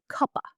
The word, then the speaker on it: cup of: Did you notice how David connects the words cup and of? In natural speaking, it sounds like cuppa.